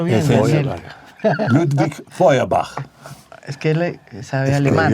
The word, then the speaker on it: Ludwig Feuerbach: Es que eso hay que pronunciarlo bien, Daniel. Ludwig Feuerbach.